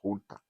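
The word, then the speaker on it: junta: it is spelled as Jun but it is pronounced as Hunter the head of the military Hunter was a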